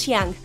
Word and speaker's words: Shang: El nombre de Shang en la versión en Mandarín es Shiang, que significa elevarse. Y en la versión original de inglés es así como el nombre es pronunciado.